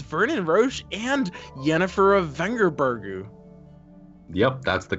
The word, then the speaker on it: Vengerberg: And he finds Vernon Roche and Yennefer of Vengerbergu. Yep, that's the correct pronunciation.